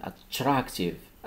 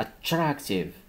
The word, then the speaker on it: attractive: يعني هنا تنشوف واحد أبوستروف فوق تي، يعني خاصني نضغط على التي، عندي هاد أ أو خاصني نبيل أ مزيان. attractive attractive بحال باد، هاد مني تنشوف هاد ا او بحال باد.